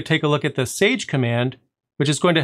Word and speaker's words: chage: The primary command that we're going to be using in today's video is the chage command. And it's spelled like that, C-H-A-G-E.